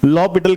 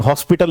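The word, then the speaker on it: L'Hôpital: We read it एज लॉपिटल rule, ठीक है ना। तो हम देखते हैं लॉपिटल रूल और साथ में डेरिवेटिव ऑफ डिटर्मिनेंट्स। तो सबसे पहली चीज, लॉपिटल के सही स्पेलिंग, हॉस्पिटल नहीं है, लॉपिटल है भाई।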